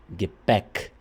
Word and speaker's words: Gepäck: Então essa aqui vai soar é. Gepäck.